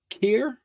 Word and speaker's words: Khayr: story that you're doing now now Tales of Kier is how you pronounced it yeah okay talk to us a